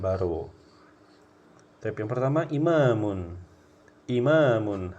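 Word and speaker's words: إِمَامٌ: Ti yang pertama imamun imamun harus panjang ya imamun Imam artinya ya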